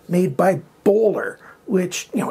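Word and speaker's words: Böhler: time I'm going to say it correctly the bowler k110 on this is you know basically an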